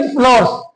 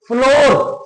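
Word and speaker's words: flower: ठीक है, और डोटेड विद फ्लावर्स, जो फूलों से लदी हुई थी। फ्लोवर का जो प्रोनाउंसिएशन है सही, वो फ्लावर्स नहीं है, फ्लोर, फ्लोर, फ्लोर।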